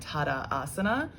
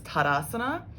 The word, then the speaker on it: tadasana: out the whole pose there's not two a's it's not like tada asana it's tadasana so you sort of